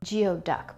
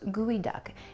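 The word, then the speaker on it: geoduck: very lovely the test okay there we go Geo duck but it's pronounced gooey duck it's actually comes from a Nisqually word which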